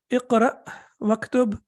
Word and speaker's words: اكتب: So when we connect it, then we do not pronounce it. It becomes sakin or it becomes silent. So how do we read it? Iqra waktub.